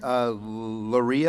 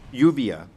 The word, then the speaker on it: Uvia: Loria Lastra? Did I pronounce that correctly? Uvia. Uvia Lastra.